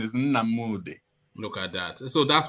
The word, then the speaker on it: Nnamdi: wearing it so the the the the ancient pronunciation is na moody look at that so that's what he was